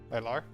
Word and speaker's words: Milar: Did I pronounce that right? Miler. Milar. Milar. Thank you.